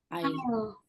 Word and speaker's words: isle: I'll. I'll. Okay, how do you spell it, the Raka?